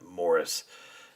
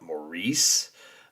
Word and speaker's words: Maurice: There is a slight rhyme to the Morris It's pronounced, I guess you pronounce it Morris. We would say here, if I were to see that name without hearing it, I would call it Maurice.